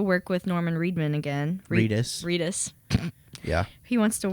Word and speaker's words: Reedus: he wants to work with norman reidman again Reedus Reedus yeah he wants to work with Norman